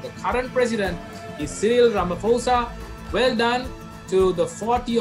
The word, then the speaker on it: Ramaphosa: The correct answer is Cyril Ramaphosa. What I do is to remember this name, I sort of, it rhymes with Samaposha, right?